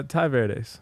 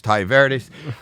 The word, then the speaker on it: Tai Verdes: I'm Howie Mandel and Ty How do you pronounce it? Uh Ty Verdes.